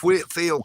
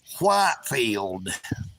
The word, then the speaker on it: Whitfield: I'm from Dalton Georgia Whitfield County and they named the county after George Whitfield even though it had a e in it it was not pronounced George Whitefield I guess they are